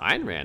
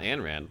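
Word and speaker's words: Ayn Rand: and anything biiian Rand it's pronounced iron ran not an ran I should give her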